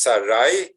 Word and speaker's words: Sarai: Not only is Avram's name changed, but Sarai, which is spelled Sin, Resh, Yud, pronounced Sarai, is now changed and transformed into Sarah, with